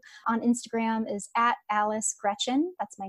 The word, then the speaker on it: Greczyn: really easy to pronounce it's just like the girl's first name Gretchen and then on Twitter